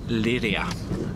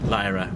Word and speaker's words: Lliria: let's go check out Lydia not Lyra as I said area area earlier Lydia so